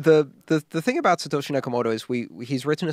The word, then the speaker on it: Satoshi Nakamoto: guy how do you say his name Satoshi Satoshi Nakamoto Satoshi yakamoto have you met this cat no